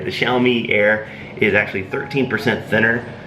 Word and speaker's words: Xiaomi: the the Xiaomi I think I'm pronouncing that right. The Xiaomi Air is actually 13% thinner than the than the uh that the MacBook Air.